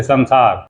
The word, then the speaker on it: संसार: जैसे संसार, तो हम स न सार कह देते हैं, स न सार, संसार में, संसार, म, संस्कृत म। तो इस तरह से ये मंत्रों का उच्चारण है।